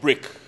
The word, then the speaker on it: BRCK: very exciting company uh called brick and it's spelled without the I it's brck brick and brick is a